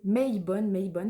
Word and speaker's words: Mabon: En effet, le sabbat de Mabon, prononcé Mabon, ça s'écrit M-A-B-O-N, correspond à l'équinoxe d'automne, où nuit et jour sont d'égale durée.